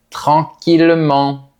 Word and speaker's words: tranquillement: Leurs dérivés aussi se prononcent de la même façon. Donc, on dira un millier un village tranquillement et cetera.